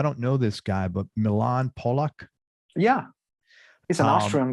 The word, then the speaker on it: Milan: Is it Milan Polak? Is that how you pronounce it? Yeah. Milan.